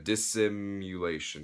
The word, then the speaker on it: Dissimulation: That's Dissimulation with their, I think that's how you pronounce their name. Yeah, Dissimulation.